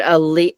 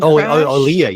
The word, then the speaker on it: Aaliyah: of shooting um that's when I hope I pronounce her name right. I'm I'm so bad at this sometimes, but Ali Aaliyah Aliyah, the one who passed in the plane. Aaliyah.